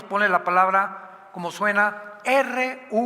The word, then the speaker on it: ruach: la palabra como suena, R-U-A-C-H, Ruach, que es la palabra hebrea que significa espíritu, y se pronuncia la CH en el hebreo como J, Ruach, Ruach, como J, Ruach.